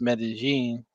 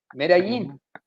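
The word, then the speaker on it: Medellín: he I don't took know if I over can trust your Spanish pronunciations because you mispronounced Medellin.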